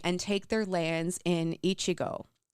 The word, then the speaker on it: Echigo: take their lands in Ichigo. I feel like I'm pronouncing that weird because it's spelled Echigo, and I'm like, I know Ichigo.